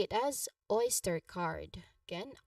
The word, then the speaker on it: Oyster card: So, we say it as oyster card. Again, oyster card.